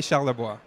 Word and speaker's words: Charlevoix: say that properly the way it should be pronounced your name and last night Pierre Olivier Charlevoix exactly it sounds much better when you say